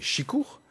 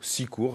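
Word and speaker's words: sikour: Alors, l'aide, c'est chicour. Mais Chicour. Ouais, chicour, sicour. Après, ça dépend d'où on est exactement en Bretagne. On a plusieurs façons de prononcer, chicour.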